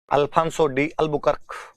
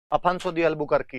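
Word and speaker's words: Afonso de Albuquerque: देख के लिख लेना अल्फांसो में एल नहीं है। अफंसो ही है। अफंसो अफंसो द अलबुकारकी है। इंग्लिश वह पुर्तगाली लैंग्वेज के अंदर एल साइलेंट हो गया होगा उनके हेडिंग डालो अगला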